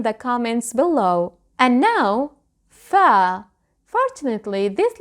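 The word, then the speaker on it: فاء: And now, fa. Fortunately, this letter is very easy to pronounce. Let's watch the shapes anyway. Fa is the equivalent of the letter F.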